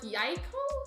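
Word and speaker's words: jajko: I really have one it's much cuter in Polish pronounced like so like yaiko I like that Susan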